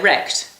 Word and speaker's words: recht: And because you fried their hide, they're wrecked. So N for wrecked. For forced, for fry-hide, and for wrecked. And do you remember in the pub we were talking about forced?